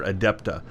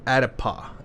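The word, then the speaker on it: Adet'paw: I guess I'm mispronouncing her name. I called her Adepta. She's Adet Paw.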